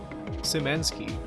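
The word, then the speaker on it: Szymanski: I mean, Dave Simanki? This is, I can't remember how to say his name. Simanki? Simansky, right.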